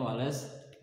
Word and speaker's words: Wallace: ini garis wallace wallacea tulisan nyawa duel Aceh ya tapi dibacanya Wales bukan Wales Wales nah disini ini membatasi